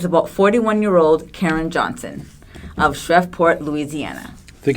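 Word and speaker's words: Shreveport: Crime Story is about 41-year-old Karen Johnson of shreport Louisiana I think it's pronounced shreport okay sorry shreport Louisiana M okay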